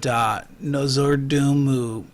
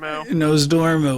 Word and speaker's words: Nozdormu: And then they're going to be like, yeah, but what about Alexaza and Nozordumu? Oh, I said his name wrong. Nozdormu.